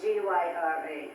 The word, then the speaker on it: Gyra: How do you spell that? G-Y-R-A.